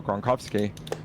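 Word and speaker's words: Gronkowski: For example, uh Travis Kelce, you could pronounce his name Kelsey or Kelse or there's Rob Gronowski or Gronovski if you're from Eastern Europe.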